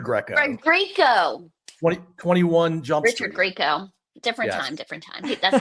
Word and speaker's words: Greco: Tom Greco. Write it down. I don't know how to spell it either.